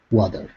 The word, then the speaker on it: water: word water right here instead of water okay give me a flap D wad water water okay good yeah so